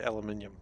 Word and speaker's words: aluminium: Let's do a lot of your English professors say aluminium. Okay. Well, that's just the correct way of saying it.